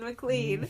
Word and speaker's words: McLean: Mean McLean. Mean McLean. But mean doesn't rhyme with McLean.